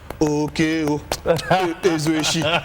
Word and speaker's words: Okey Uzoeshi: Okey Uzoeshi, war for war. Did I pronounce it well?